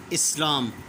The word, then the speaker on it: اسلام: Page number 40 کا اسلام۔ یہ اسی طرح پڑھا جائے گا جس طرح کہ ہم غلط تلفظ کے ساتھ اخلاق پڑھتے ہیں۔ اب وہاں میں نے